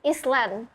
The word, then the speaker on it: island: Ya, jadi fun fact lagi, banyak banget orang-orang di sekitar aku yang ngomong ini Island.